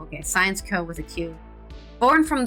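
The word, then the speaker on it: Syensqo: include Airbus and a science incubator called sciano pronounced science Co okay science Co with a que born from the Belgian Pharmaceuticals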